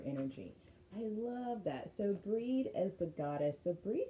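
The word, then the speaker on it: Brigid: So breeds cauldron and her it looks like Bridget but it she's druidic and it's pronounced breed.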